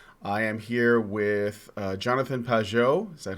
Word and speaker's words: Pageau: I am here with Jonathan Pageau. Is that how you pronounce that?